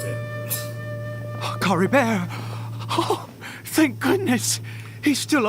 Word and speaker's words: Caribert: once and then I can remember how they pronounced it Cory bear oh thank goodness he's still okay don't we